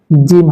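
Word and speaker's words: جيم: তারপরে চলুন জিম হরফ। এই হরফটা তিনলিপ টান হবে এবং এটি উচ্চারণ হবে জিহ্বার মধ্যখান তার বরাবর উপরের তালুর সঙ্গে লাগিয়ে।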